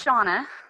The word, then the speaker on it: Shanna: It's Shanna, by the way. Everybody pronounces it wrong.